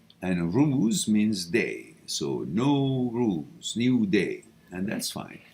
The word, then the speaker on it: Nowruz: o z no rules some people spell it n o w r o u z all right no rules that's the pronunciation and thank you for